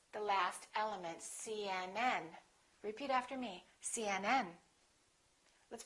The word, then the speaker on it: CNN: pronounce each letter separately try to say it as one word link it together CNN kind of like this see and and and then join them together CNN and then stress the